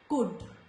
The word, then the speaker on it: could: In these words, when letter L comes before letter D, it is silent. So, could, not could, could, should, would.